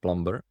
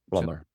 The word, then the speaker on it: plumber: The first one is plumber. And so this you're the B is silent. So even though we write it plumber.